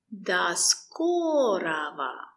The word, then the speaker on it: До скорого: До скорого. We don't say ro, we say ra.